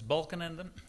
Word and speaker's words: Balkenende: can I imagine that the pronunciation of my name is a bit difficult name is Balan Ander but also happened to